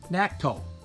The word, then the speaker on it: Nakto: the front wheel and this is pronounced Necto na k keeo like nat Tolec a